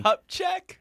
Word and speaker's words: Kupchak: Kupchak?